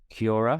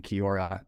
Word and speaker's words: Kiaura: Parker is the founder and CEO of Kiora. I want to make sure I'm pronouncing that right. Yep. Kiora Eyewear.